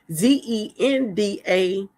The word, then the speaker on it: Zendaya: Anyway, so one day they had this Oscar night, and you guys know that Zendaya, I pronounce her name, Zendaya.